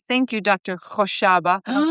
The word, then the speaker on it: Khoshaba: Khoshaba. Yeah, now you got to say it the Middle Eastern way. How do you say Khoshaba? You have to get the phlegm going. Oh, gosh. Khoshaba? Khoshaba.